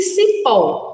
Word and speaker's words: cipó: Então, observem, crianças, que a sílaba que está destacada na palavra cipó é o si. E na palavra casinha, o K, C-A. Então, observem os sons. Quando nós falamos casinha, C-A, é diferente de cipó.